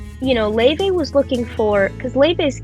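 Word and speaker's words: Lauv: say her name more, is it Loewe? It's Leve. Leve.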